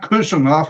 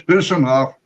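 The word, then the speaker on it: Khusanov: And it's not Kusanov, it's Husanov. Anything with KH from Uzbekistan is pronounced with H.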